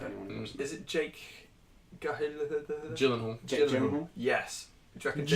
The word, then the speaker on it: Gyllenhaal: Is it Jake Gyllenhaal.